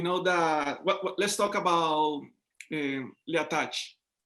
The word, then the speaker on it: The Attaché: Let's talk about l'attaché. Is that the pronunciation? L'attaché? The attaché. Yeah. The attaché. Okay, the attaché.